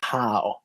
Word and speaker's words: Howe: It's Spencer Howe. And I know that it's Howe, but it's one of those words that you read more than you say. And before I knew how to pronounce his last name, I always said Ha. And so even though I know that it's Howe, every time I read it, I say Ha.